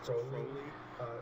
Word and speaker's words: Crowley: The name, it's not Crowley, it's Crowley.